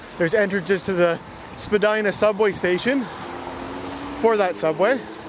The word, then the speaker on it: Spadina: left, left and right, there's entrances to the Spadina subway station for that subway. And we're just gonna barely make it through this traffic light. And now we're on Spadina Avenue. So, as I said, changed from Spadina Road to Spadina Avenue.